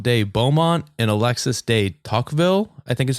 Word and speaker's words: Tocqueville: In 1833, just 4 years after the prison first opened, Gustave de Beaumont and Alexis de Tocqueville, I think is how you pronounce it, of France. Tocqueville.